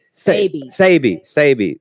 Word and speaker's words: Sebi: Sebi. Is that how you say his name? Yes. Sabi. There you go.